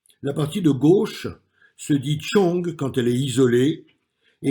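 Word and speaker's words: 重: La partie de gauche se dit chong quand elle est isolée et elle désigne ce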